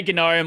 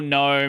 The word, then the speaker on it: GNOME: hell out of us like Silent G or not. You developers will say both. People say Gnome or Gnome. It no one cares anymore. It used to be Gnome because of GNU and ever since the